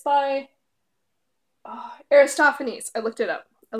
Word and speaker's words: Aristophanes: say it I listen Lysistrata and it's by Aristophanes I looked it up I look to it Aristophanes this is an Amazon classic it just came